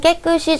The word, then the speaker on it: 깨끗이: 번잡한 주변을 깨끗이 정리하는 시기입니다. 자, 이것도 발음상 연음이 그대로 되면서 깨끗이로 발음이 되죠.